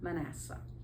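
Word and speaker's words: Manasseh: Gideon was from the tribe of Manacea. And Joseph named his first child Well, it's either man of or man. Anyway, I may have said it wrong. Manasse, that's how you say it.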